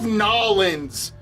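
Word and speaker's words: New Orleans: Oh, I love Nollins. That's how the locals say it. They say Nollins.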